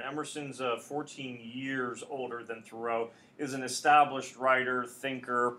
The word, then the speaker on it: Thoreau: Thoreau and really if everyone basically today says Thoreau where you put emphasis on the second syllable the thought is it was probably pronounced more like Thoreau like a thorough reading of throws text but